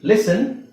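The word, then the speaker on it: listen: okay ಈಗ ಇದಏನ್ ನೋಡಿದ್ವಿ ಲಿಸನ್ Hassan so ಇಲ್ಲಿ ಲಿಸ್ ಅನ್ನಲ್ಲ ಲಿಸನ್ ಪಾಸನ್ ರೈಟ್ ಇಲ್ಲಿ ಹಾಗೆ ಸಾಫ್ಟ್ ನೋಡಿ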